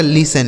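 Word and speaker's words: listen: एस से हो गया स और यहां जो टी लिखा है ना दोस्तों यह साइलेंट है मतलब इसे नहीं पढ़ा जाएगा इ और एन से नौ इसे पढ़ा जाएगा लिसन इसे लिसन बिल्कुल नहीं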